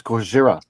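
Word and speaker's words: Gojira: gotta say it right it's not Goa it's goira goira yeah whatever I'm sorry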